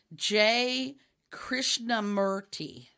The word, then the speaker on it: Krishnamurti: this name i'm sure j krishnamurti i think is how it's pronounced and he had been